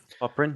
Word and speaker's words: Popyrin: Is it Popyrin or Popperin? How to pronounce his name? Popperin, yep.